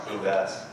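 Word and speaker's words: Bouves: V as in Victor, O-U-V-E-S, and it's pronounced Bubes.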